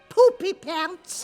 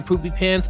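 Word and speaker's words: Poopypants: I pronouncing it right poopy pants more or less except the emphasis is on the poop why are you laughing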